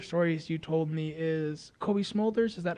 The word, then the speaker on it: Cobie Smulders: So one of my favorite stories you told me is Cobie Smulders. Is that how you pronounce her name?